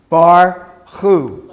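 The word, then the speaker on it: בָּרוּךְ: Wolfgang not far off at the at the end of the word we have the sharik which is pronounced how everybody together how is the sharik at the end pronounced ooh okay so you're going to pronounce this word bar who write because we got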